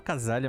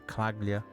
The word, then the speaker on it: Calaglia: Eu até chamo Casalia, mas eles chamam de Claglia. A pronúncia. Huh?